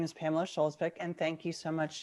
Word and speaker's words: Skjolsvik: a favorite passage sure my name is pamela schulzbeck and thank you so much jennifer for pronouncing my name correctly that's like the biggest